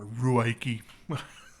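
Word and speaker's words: Ruike: This guy actually reminds me quite a bit of the Rake P801 or Ruaiki. It's apparently pronounced Rake, but and that's a fun knife to play with.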